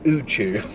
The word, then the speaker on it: Uchu: yes let's get going dj uchu am i pronouncing that right because i've been like i've never actually heard it said out loud is that pronounced correct that is correct it means infinite space